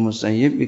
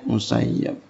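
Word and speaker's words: المسيب: mengisi Yoganya qiroatul Ibnul musayyib hasilnya yg jadi sebaiknya bacanya musayyib ada ulama bacanya musayyab Hai Dek Hai guru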